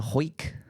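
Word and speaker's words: Hawick: But it's But it's spelled Hwick. Ho.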